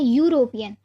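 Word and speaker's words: European: यूरोपियन। तो यूरोपियन में ये जो यू का प्रोनाउंसिएशन हो रहा है तो ये क्या है? ये एक वोवल नहीं है, तो इसीलिए हम इसके साथ क्या यूज़ करेंगे?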